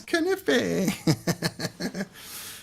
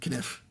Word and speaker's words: knife: It's knife. That's right, Hos. Um, older German relatives if I said knife. Silly English with their silent letters.